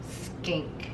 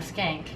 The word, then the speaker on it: skink: It's a blue tongue skink. Skink? Not a skank. A skank? A blue tongue? A blue tongue skink. Stink. Skink. Skink.